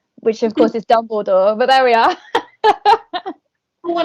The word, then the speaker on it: Dumbledore: i used to call him the head teacher dumbly door which of course is dumbledore but there we are what are you saying